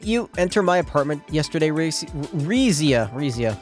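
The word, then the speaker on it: Rixia: Didn't you enter my apartment yesterday, Rizia, that's how you say it.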